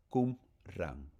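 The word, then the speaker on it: Qumrán: los rollos de Kumrá, Kumran, así se pronuncia, así se escribe en español, tal como lo estoy leyendo.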